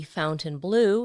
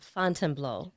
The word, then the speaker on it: Fontainebleau: Ben named it after the Fontainebleau Palace in Paris, though whenever Ben pronounced it, he always called it the Fontainebleau instead of the French pronunciation Fontainebleau.